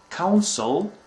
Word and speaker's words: counsel: country, and is usually a diplomat, and is pronounced differently than the first two. It's consul. So let me repeat them again: counsel and consul.